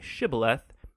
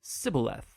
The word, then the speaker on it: shibboleth: turned out that the ephraimites had grown up pronouncing that word differently so instead of saying shibboleth they would say sibileth when that happened the gillianite guard would execute